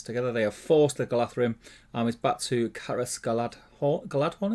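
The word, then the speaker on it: Galadhrim: That's why it's Galathrim, not Galadrim.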